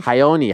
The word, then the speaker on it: Raoni: Carlos broches no no barcelos oh hon barcelos hyoni hyoni there was once a time where I